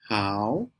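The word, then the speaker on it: 好: Remember that hello in English in China is pronounced how see how a a how.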